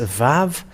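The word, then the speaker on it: וו: So even if you will say Vav with W-A-W or just Vav, it's always a V, the pronunciation.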